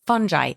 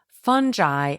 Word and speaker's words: fungi: In this biome, there are trillions of microscopic organisms, including bacteria, viruses, fungi, and even parasites. By the way, in case you're curious, fungi and fungi are both correct pronunciations for the plant group that includes mushroom, yeast, and mold.